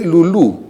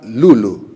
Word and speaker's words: Lulú: Le pusimos como nombre Lulú en español, pero mi hija es más anglo que hispanoparlante y le llama Lulu, acentuando la primera sílaba.